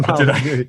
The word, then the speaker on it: Molyneux: That's right, Stefan Molyneux.